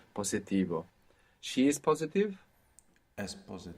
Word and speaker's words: positivo: Good, and you pronounced an S, where most English speakers will probably find themselves pronouncing a Z there, because in English we have positive, so that would probably transfer into Spanish to positivo, and we want to be careful not to do that.